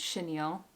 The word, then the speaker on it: chenille: And you bet I had to look up how you actually pronounce chenille.